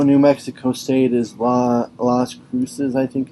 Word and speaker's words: Las Cruces: map although no New Mexico State is la las cruces I think it's how you pronounce it New Mexico is an Albuquerque over